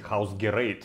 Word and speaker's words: Hausgerät: Но на самом деле это немецкое название, и правильно говорить Hausgerät.